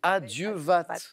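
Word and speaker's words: à Dieu vat: l'expression emprinté au marin avec un t final qui se prononce adieu VAT ad Dieu VAT alors l'interjection et altération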